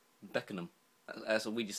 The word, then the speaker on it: Beckenham: Makes you laugh, in the same Beckham, like Beckingham. It's Beckenham. Beckenham. That's what we just say. We say Beckenham.